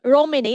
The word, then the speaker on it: Romene: So, um, Romani is how we pronounce. It's the tero word for, um, Romney as in a sheep breed, which, um, is found all over New Zealand.